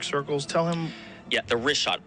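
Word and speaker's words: Richat: The rishot. R I C H A T. It's worth mentioning that. Yeah. In the first couple uh I just want to say it's Rishot. I used to call it Rickot.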